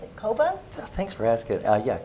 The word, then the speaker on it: Qobuz: Qobuz? Thanks for asking. Yeah, Qobuz. Qobuz, okay. That's how I pronounce it. Okay. It's Qobuz.